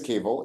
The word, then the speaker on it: Kewal: My name is Kewal. It's spelled with a W that sounds like a V. I always say that Kewal rhymes with navel, but